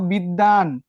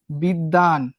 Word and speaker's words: বিদ্বান: তারপরে দেখো বিদ্বান, কোন শব্দের মাঝে যদি ব ফলা থাকে ব ফলা উচ্চারিত হয় না, তবে যে বর্ণের সঙ্গে যুক্ত হলো সেই বর্ণের উচ্চারণ কেমন হয়ে যায়? দ্বিত্ব হয়ে যায়।